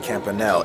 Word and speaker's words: campanelle: Took a few bites of the shrimp campanelle, and I found out that's how you pronounce it, campanelle.